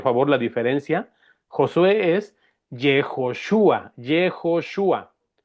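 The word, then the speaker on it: יהושע: El nombre del libro es Josué, que se pronuncia en el idioma de los hebreos, Jejoshua. Jejoshua.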